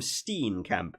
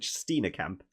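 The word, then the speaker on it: Steenekamp: front row Mark marks stetina Camp is how I heard the commentator say I kept call him Steen camp but I heard the the commentators kept calling it stetina Camp uh so I'll try and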